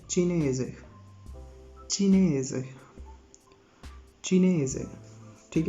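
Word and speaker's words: cinese: इसको चाइनेज़े नहीं पढ़ने आपने, इसको चीनेज़े पढ़ेंगे, ठीक है।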